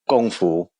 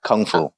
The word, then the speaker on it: Gong Fu: In Mandarin, it would be Shaolin and then Gong Fu, not Kung Fu.